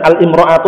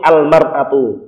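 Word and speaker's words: المرأة: Kalau ada alnya bacanya bukan al-imra'atu tapi al-mar'atu.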